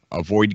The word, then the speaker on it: Avoyd: It's just it's a space that is infinite, and it's called it's spelled AVOYD game, Avoid game, and I really don't think they know what to do with it, but it's really cool.